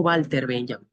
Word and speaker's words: Walter Benjamin: La W en alemán se pronuncia como una V o una V de vaca, V la viidental. Eh, y por eso digo Walter Benjamin, ¿no?